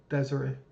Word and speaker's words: Desire: I just love that in New Orleans, a district called Desire is a thing. Though in Louisiana, it's pronounced something like Desiree.